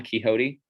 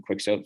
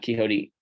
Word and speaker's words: Quixote: that on the screen that's how you pronounce it I was I know I pronounced it on quick so for a long time the Don Quixote uh Quixote honesty is the best